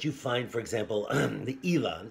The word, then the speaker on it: Islay: But it's also that you find, for example, the Ely. Ely is Islay, spelled like Islay.